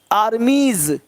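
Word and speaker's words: armies: आर्मीज, देख रहे हो, आर्मीज हल्का सा ज का साउंड हो रहा है, देख पा रहे हैं सब लोग।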